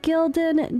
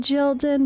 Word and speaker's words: Gyldan: of a character Spotlight on Gildan all right Gilden jilden depending on the dialect I looked up a bunch of pronunciations they're all different so we'll go with Gildan um but speak English